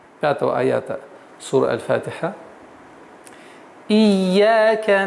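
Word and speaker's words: إياك: Не эйяка. И. Ияка. Четкое и ясное произношение звука и. Ия. Теперь нужно обращать внимание, чтобы звук «я» удваивался. «Ия». Не перестараться «ия», а нет. «Ия». «Ияка». «Ия» ударение в размере двух огласовок.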